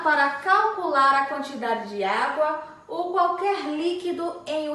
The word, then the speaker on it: água: utilizamos acento agudo água a sílaba tônica de água é a vogal a e também possui o som aberto tão acentuamos com acento